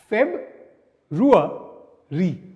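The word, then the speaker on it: February: pronounce कैसे किया जाए बट अगर हम इस शब्द को ब्रेक डाउन कर ले फेब रुआ री फेब रुआ री और इनको साथ में जोड़ दे तो इस वर्ड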